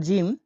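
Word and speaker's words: ج: পরবর্তী শব্দটি হলো জিম। জিম উচ্চারণ হয়ে থাকে জ এর মতো।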